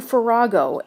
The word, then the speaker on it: Farago: Here we have none other than Andrew Farago. Andrew, welcome to Turtle Talk. You nailed the pronunciation, which is that's always it's always a great thing.